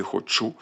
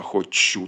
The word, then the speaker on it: хочу: них не хочу тут ще м'який ч не твердий як у сучасній мові хочу а хочу тут м'який він ще на той момент не ствердів і наголос зауважую на останньому складі не хочу це так звана акцентна парадигма б за якою відповідним чином ставиться цей наголос наголос на о тобто хочу не хочу Він пересунувся вже у пізньому середньовіччі на той момент ще не хочу А кого тобі любо